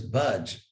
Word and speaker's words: bhaj: comes from a root which is budge pronounced for better just like in this word buds like don't budge an inch so that's exactly how you pronounce it and so you